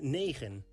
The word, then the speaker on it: negen: 9 is negen. This is pronounced like nee and gen.